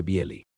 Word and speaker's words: Bely: Dentro de este horizonte aparecen tres figuras extraordinarias: Pavel Florensky, Viacheslav Ivanov y Andrey Bieli, pronunciado aproximadamente Bieli.